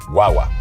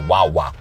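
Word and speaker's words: guagua: say it right guwa guaga guaga it's almost like G way but fast it's almost like guwa but guaga you don't want to say guwa you want say guaga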